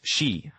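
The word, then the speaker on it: 四: In Japanese, the number four is pronounced she, which sounds identical to the word for death.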